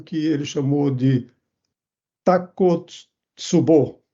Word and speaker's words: Takotsubo: A ele pareceu que esta imagem lembrava muito o que ele chamou de Takotsubo. Esse é o nome que eu aprendi no Japão a pronunciar corretamente essa palavra e que eu resolvi adotar.